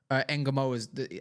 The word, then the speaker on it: Ngumoha: If you look at Ngumoha's, I know that's how you say his name. Yeah, I know. Got it right.